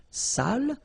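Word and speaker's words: sale: without the accent so if you don't put the accent it means dirty and then you pronounce it Sal but in that case here okay you put the accent and it's quite important because in that case it means salted okay Sally okay say say delicio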